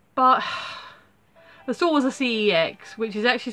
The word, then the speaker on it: CeX: I saw was a cex which is actually supposed to be pronounced cakes because it's a computer entertainment exchange or computer exchange they're